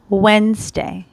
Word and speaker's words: Wednesday: tuesday tuesday tuesday wednesday so we do not pronounce the d okay we just say wednesday today is wednesday next